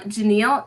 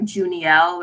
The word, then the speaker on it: Janille: like backstory so um janille is my full first name but when i was growing up people would always misspell it or i'm sorry mispronounce it and call me like junielle or call me janelle and so i and